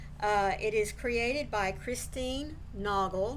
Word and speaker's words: Naugle: It is created by Christine NAUGLE. Now that's how I pronounce her name. It's N-A-U-G-L-E, but you may know it as a different pronunciation.